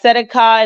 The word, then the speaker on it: Tzedakah: We're going to listen to Righteousness, and it's pronounced Sadak, and I'm going to play it again for you. Strong's H, 6666. Tzedakah. Tzedakah. So it's pronounced Tzedakah. I'm going to actually go click on it again just so that we know. It's Tzedakah. Okay?